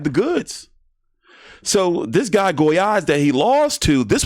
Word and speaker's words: Gollaz: Well, anyway, Top Ring has this card down in Mexico and Lindalfo Delgado should go on to lose to Gabriel Goyaz. That's how you pronounce his name.